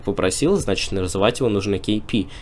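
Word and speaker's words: Kpii: и две буквы I и многие читают как kpi и я сам так делал буквально ещё на прошлом эпицентре то есть год назад но потом как раз мне коммьюнити подсказала что игрок сам говорил и просил называть его KP именно KP Да может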